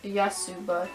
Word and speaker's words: Yotsuba: yeah yeah sure I keep forgetting how to pronounce the name of this load yes yotsuba yes super yeah supe um is I think